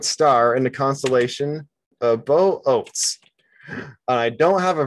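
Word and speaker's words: Boötes: in the constellation of Bo Oates. And I don't have a very satisfactory name, pronunciation of it. Is an ancient Greek name. There's an umlaut in there. But boats. Some people call it boots.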